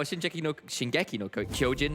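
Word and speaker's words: 進撃の巨人: All right, well, Shingeki no Kyojin, there we go. I think I remember how to pronounce that properly.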